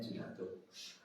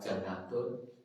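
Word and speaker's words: جُنَّة: Junatun bacanya junatun ee perisai kalau ini kan hurufnya podo ya. Iso diwaco junatun, bisa dibaca janatun, bisa dibaca jinatun.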